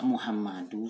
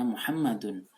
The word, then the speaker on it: Muhammadun: Masa Muhammadu sih? Apa yang menyebabkan dia Muhammadu? Padahal jelas-jelas kita sudah belajar bacanya Muhammadun.